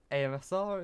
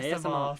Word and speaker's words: ASMR: And as I probably will pronounce wrong again, our AMSR, is it? ASMR. ASMR, sorry. ASMR. I pronounce that wrong every time.